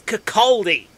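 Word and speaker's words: Kirkcaldy: r k c a l d y that's cakaldi where's the extra d coming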